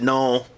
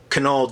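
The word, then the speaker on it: Knull: cover but no yes I pronounce it null Kunal just sounds stupid but anyway so therefore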